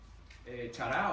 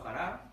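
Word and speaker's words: χαρά: La palabra gozo es chará o jará, como quieras pronunciarlo, que significa deleite, alegría o regocijo.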